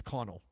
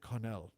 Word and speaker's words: Connell: thanks again to James I think it's Connell I think I should pronounce I said Cornell like I was some